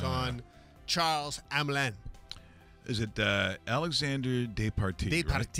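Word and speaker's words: Alexandre Despatie: Is it Alexander Despartie? Despartie. Right? Yeah. Alexandre Despartie.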